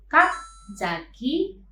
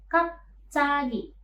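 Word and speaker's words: 갑자기: Karena konsonan ciet ini bisa berubah menjadi sang ciet, maka pelafalannya menjadi bukan kapjagi, melainkan kapcagi.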